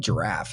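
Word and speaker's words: Jirav: about the software so it's called giraffe it's j i r a v giraffe it's spelled giraffe is what it looks like point is it's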